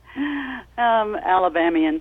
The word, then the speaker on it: Alabamian: Hey, Norma, as an Alabamian, however you say it, please correct my pronunciation. Your thoughts on the Doug Jones victory? Alabamian.